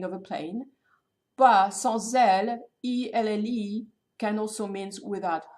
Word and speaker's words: elle: But sans elle, E-L-L-E, can also mean without her. So E-L-L-E or A-I-L-E are written, are pronounced exactly the same way in French.